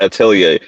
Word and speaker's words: Atelier: That's if you like Witch Hat Atelier, but it's because the R is silent. It's weird. Whatever. I guess it's Atelier is a French word or some shit like that, but I don't know.